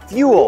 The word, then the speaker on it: fuel: natural gas ซึ่ ง ค ำ ว่ า fuel อ อ ก เ สี ย ง เ